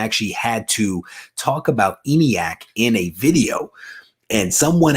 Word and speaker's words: ENIAC: If I am wrong about that, I am sorry, but I do believe that is how you pronounce it.